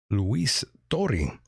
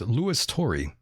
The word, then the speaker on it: Louis Turi: Luis Turi, as they say down south. Luis Turi. That's the way they would say it down south, but his name is Louis Turi. For those who were wondering, that is the proper pronunciation here.